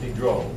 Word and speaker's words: Diderot: All right, Diderot. Actually, it's pronounced Diderot.